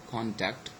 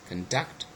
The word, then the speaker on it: conduct: So look at all those words: object, conduct, and present. And all of them, they are all nouns, and that's why the first syllable is stressed.